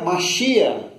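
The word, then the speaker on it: מָשִׁיחַ: O termo ungido, na língua grega, se pronuncia Christos, daí que vem o nome Jesus Cristo. Ou, na língua hebraica, Mashiach, ou Messias.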